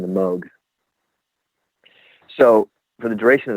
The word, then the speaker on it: Moog: and purposes but technically it's pronounced Moog so for example they had a keyboard called the rogue that was one of their models the whole point was it for it to rhyme so it was a mug rogue and but obviously the temptation is to call it Moog that's what it looks like so for everybody that they told no actually it's mug and the registered trademark